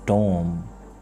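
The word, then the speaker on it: tomb: the word is climb tom the correct pronunciation is tom com the correct pronunciation is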